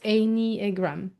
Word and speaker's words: Enneagram: pronounced Enneagram, Okay.